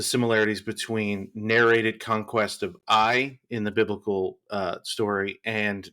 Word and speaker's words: Ai: Is it AI or I? Oh, good question. You got it right. It's I. Mm-hmm. Yep. Cool. It's just the Hebrew word that means ruin. But yeah, just pronounced I.